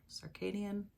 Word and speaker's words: circadian: thing it just it messes with your circadian circadian that's how you say it rhythms it's just